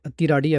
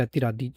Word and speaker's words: Athiradi: तो दोस्तों अतिराडी फिल्म और इस वर्ड का मतलब है अतिराडी या फिर अतिरादी अतिराडी या फिर अतिरादी जो भी आपको प्रोनाउंस करना है जिसका मतलब है स्ट्राइक।